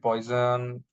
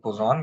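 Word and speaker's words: Poisson: few people pronounce it poison few people pronounce it Pon okay so the right way is like Pon where I is silent okay so here I'm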